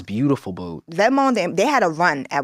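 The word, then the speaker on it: Vetements: is like beautiful boot vmon they had a run at one time when they were like lit well some people may say vamin but that's not how it's pronounced but that's what these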